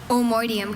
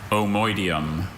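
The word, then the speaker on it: omoideum: Omoidium. Can you repeat the word one more time? Omoidium. Omoidium. O-M-O-I-D-I-U-M. Omoidium. Omoidium is spelled O-M-O-I-D-E-U-M.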